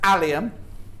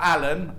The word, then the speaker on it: allium: plus the panel brilliant that's allium not um not alan and it's not what